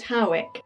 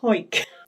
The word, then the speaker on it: Hawick: Now, some people pronounce it Howick, but a quick Google has taught me that people from Hawick tend to call it Hawick.